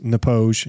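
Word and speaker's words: Knappogue: to a castle whiskey I listened to a guy say it like 10 times before um I actually pronounced it on on a podcast so it is nepoge he was Irish um I'm not gonna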